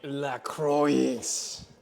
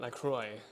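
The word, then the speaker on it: LaCroix: goofing you bunch of Ras cranberries it's actually lacro lcro not lroy lcro I'm going to I'm going to lean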